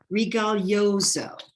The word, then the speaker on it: Rigoglioso: So, Rigoglioso.